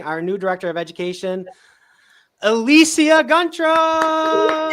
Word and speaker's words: Elicia Guntrum: all right introducing our new Director of Education elisia grra said it right and I just want to